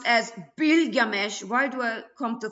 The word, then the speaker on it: Bilgamesh: Gilgamesh uh originally pronounced as bilgamesh.